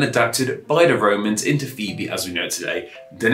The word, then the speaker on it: Phoebe: much but anyway on with today's name of phoebe and phoebe is the name of ancient greek origins and